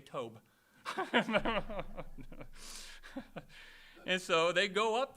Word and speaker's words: Tob: Tob, T-O-B. I was looking at it, wondering, Tob, whatever that's supposed to be. Huh? What's that? Just like job. Then I'm going to say Tob.